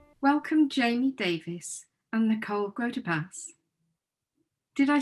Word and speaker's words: Grotepas: welcome Jamie Davis and Nicole Grotepas. Did I say that? Yes. You Yep. did. You Nice did. job. It's pronounced Davis, so you did a good Oh, job.